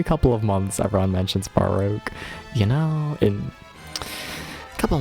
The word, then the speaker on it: Baroque: It's Baroque? There's no third syllable? It's only two?